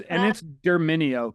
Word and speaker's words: Derminio: And it's Derminio, correct? That is the correct pronunciation.